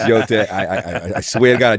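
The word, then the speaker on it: Yōtei: It's Yote. I swear to God, I did read it, even though I mispronounced the name.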